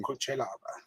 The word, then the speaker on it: Cutelaba: I can listen to the pronunciations. Let me hear this, Marcel. All right, let's see. Cutelaba.